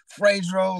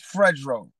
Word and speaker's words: Fredro: yeah you know Fredro a lot of people can't pronounce my name like Spike Lee calls me Fredro and Funk Master Flex says my name frasero like but it's Fredro just to let everybody